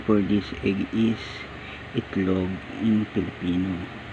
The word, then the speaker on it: itlog: The equivalent of name for this egg is itlog in Filipino, pronounced as it, int, pronounced as it. Then the next one is log, L-O-E-G, log, it, then log, itlog.